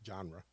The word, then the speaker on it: genre: First of all, it's pronounced genre.